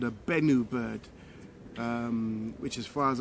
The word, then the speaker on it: Benu: And also it's also known as what's called a Benu bird, which, as far as I can recall correctly, is spelled B-E-N-U, the Benu birds.